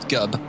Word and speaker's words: Gob: Thank you for having both me and Gob here. We are super happy to commentate this first round. Just 4 minutes left. Talk about Gob. The correct way to pronounce it is Gub, but I I'll take Gobby.